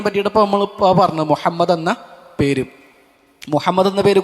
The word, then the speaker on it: മുഹമ്മദ്: നമ്മൾ അത് മുഹമ്മദ് എന്നുള്ളത് മുഹമ്മദ് എന്നൊക്കെ പറയുക അത് ഉച്ചാരണത്തിൽ നമ്മൾ ശ്രദ്ധിക്കേണ്ട ഒരു കാര്യമാണ് മുഹമ്മദ് എന്ന് തന്നെ ഹ അത് മുഹമ്മദ് എന്ന് ആവൽ പാടില്ല അത് പ്രത്യേകം ശ്രദ്ധിക്കുക ഇൻഷാ അള്ളാ